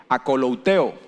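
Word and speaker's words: ἀκολουθέω: Se pronuncia en griego akolouteo e implica lo siguiente: recordar nuestro destino y forma de conducirnos.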